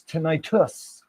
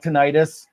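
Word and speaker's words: tinnitus: not and it's not it's us not is so it's tenitus not is it also has two ends which makes it tinitus.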